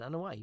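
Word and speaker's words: Anoaʻi: And it's funny too the way Dustin brought up the fact that he wasn't that Yokozuna, Rodney Anawai, he what is it, Anawai, right?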